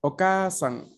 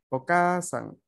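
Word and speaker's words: お母さん: que significa mamá, es okasan. Okasan. Ay, minasan, todos. Okasan. Okasan. Okasan. Como podemos escuchar, la A es más larga respecto, ¿no?, a la A normal que pronunciamos nosotros en español.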